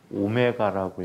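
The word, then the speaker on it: ω: 오메가라고 읽어. W라고 하면은 죽여버릴 거예요.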